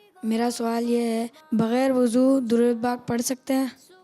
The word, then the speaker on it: وضو: اکثر نکلتے ہیں، تو لیکن صحیح تلفظ ہے واو پر پیش ہے، جسے دمہ کہتے ہیں، وضو یہی صحیح تلفظ ہے، اور اسی کو